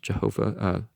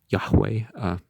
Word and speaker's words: Yahweh: which is not pronounced jehovah yahweh no v no j in actuality to bring him down